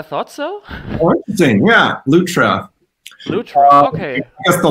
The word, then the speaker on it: Lutra: So I thought Lutra is Latra. Actually, I always spelled it Latra, but that seems to be off, right? You spelled it Latra? Yeah, I thought so. Oh, interesting. Yeah, Lutra.